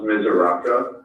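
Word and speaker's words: Misuraca: and i'll tell you my last name and pronounce mizaraka but it's m as in mary i says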